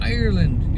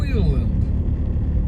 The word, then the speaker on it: Ireland: Ireland you're from oiland you have to say it like the word oil at the beginning o oiland then you have got a good accent I learned that today oand not Ireland then you look authentic don't